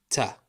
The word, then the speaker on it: تاء: It's pronounced exactly like the letter T, Ta.